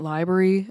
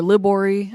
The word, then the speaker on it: Libory: You may have also heard us talk about St. Library a lot yesterday, or Libory, I should say.